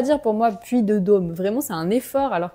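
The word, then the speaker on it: puy de Dôme: de dô vous voyez avec l'accent circonflex on devrait dire bien fermé ha le puit de dô puit de dô mais on a tendance à prononcer le puit de dô donc très ouvert homme le puit de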